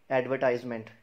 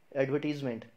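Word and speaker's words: advertisement: पहली बात तो इसमें आज आर की प्रोनाउंसिएशन है ही नहीं, ठीक है। दूसरी बात, इसको एडवर्टाइजमेंट नहीं बोलते, एडवर्टाइजमेंट भी नहीं बोलते। इसकी सही प्रोनाउंसिएशन है एडवर्टीजमेंट।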